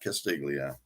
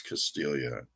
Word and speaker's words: Castiglia: For the longest time, when I first got his one of his first releases, I was calling him Albert Castiglia, but it's not Castiglia, it's Castilla. So he's got a new one.